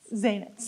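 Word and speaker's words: Zaentz: of Early Childhood leaders at the uh Saul zenz is that how you pronounce z zanz thank you uh education initiative at Harvard cypriana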